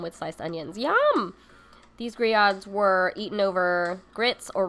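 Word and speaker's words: grillades: first look at it it's supposed to be grelades but it's actually griods the french the french way these griods have absolutely nothing to do with the grill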